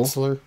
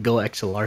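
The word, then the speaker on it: GoXLR: Goxler. Goxler. It's pronounced Go XLR, sir.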